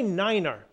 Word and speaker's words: Niner: as one six Niner the number nine has its own pronunciation due to the fact that nine can sound like five when spoken quickly over the radio say Niner instead of 9 November six Niner golf